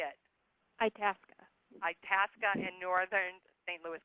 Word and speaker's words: Itasca: Itasca.